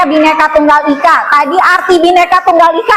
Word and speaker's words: Bhinneka Tunggal Ika: Kita Bhinneka Tunggal Ika, ini bacanya Bhinneka Tunggal Ika.